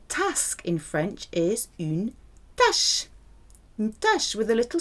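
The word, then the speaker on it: tache: La tâche. There's another word that's pronounced exactly the same way, tâche, without the circumflex, a little pointed accent on the top.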